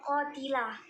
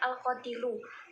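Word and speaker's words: القاتل: ya kuno seperti itu lalu bapak itu membacanya qadilah yang benar itu adalah Al qodilu karena ini tuh merupakan menjadi fail jadi fail dari lyakuna seperti itu maka dari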